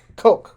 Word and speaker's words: Koch: Coke. Okay. Like Coke. Yep. So like like Coca-Cola.